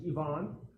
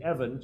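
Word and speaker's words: Ivan: there is the pastor his name is Yvonne which is John frequently translated Evan so Evan and Yvonne not Yvonne as a girl but Yvonne as the Ukrainian and Russian counterpart to John uh is is basically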